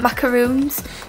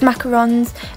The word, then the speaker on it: macarons: guys like she got macaroons macarons macaroons macarons I know it's I'm saying it wrong it's macarons and raspberry and black